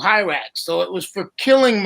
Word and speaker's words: Hirax: So on ours, for the bug repellent, because I thought it was great that something kills mosquitoes, it's Hirax with an I, Hirax.